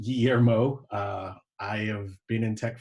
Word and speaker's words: Guillermo: My name is Guillermo Fisher. We're going to talk about eliminating invisible work. Thank you, Mike, for the intro. So Guillermo is pronounced Guillermo.